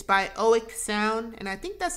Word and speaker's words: Oeksound: It's by Oek Sound, and I think that's how you pronounce their name.